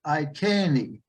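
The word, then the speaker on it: Iceni: tribe was the itany that is spelled i-c-e-n-i-i pronounced icani maybe some of you are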